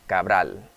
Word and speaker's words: Cabral: El bailarín está interpretando a Cabral. All right, so this dancer is interpreting a dance from the artist Cabral. And did I just say Cabral? Cabral, that's how you say it in Español.